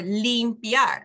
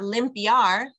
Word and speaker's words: limpia: goes e e b or limpia it's not limpiar Lim it's what those